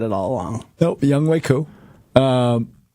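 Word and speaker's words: Younghoe Koo: Young Hoku. All right. So that is incorrect. It's Young Waku.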